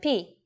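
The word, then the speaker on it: πι: number starting with 3.14 most English speakers call it Pi but now you know its real name is p it comes from the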